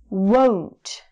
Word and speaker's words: won't: It's a really strong O sound. So it's won't.